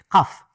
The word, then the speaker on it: Qaf: Le lieu où elle niche, le mont Qaf. Alors, la prononciation du K en arabe est littérale, c'est Qa, comme ça. Qaf, ou la montagne Kaf, comme vous voulez.